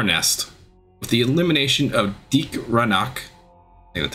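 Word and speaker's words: Deag Ranak: With the elimination of Deke Ranach, That's how you say it.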